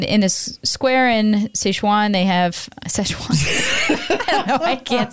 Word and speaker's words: Sichuan: They in Sichuan. Sichuan. Like the sauce.